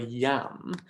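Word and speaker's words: iam: one and that's here in the word yam now yam the i is functioning as a consonant which is why in some modern editions it's even written as a j so the am because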